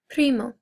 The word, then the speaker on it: primo: Male cousin, primo. And we want to remember that if you can, I know it's hard, but if you can roll your R's, we're going to try